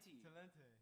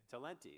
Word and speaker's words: Talenti: Talente. Talenti.